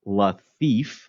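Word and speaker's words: Lafitte: match is Jean Pierre laif pronounced like laif although he's a pirate and a thief and I'm not really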